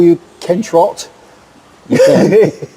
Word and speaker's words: Trottier: Can I just call you Ken Trot? You can. Trot or Trottier. Oh, Trottier, okay, please. Trottier would be that my father was French, so he would say Trottier.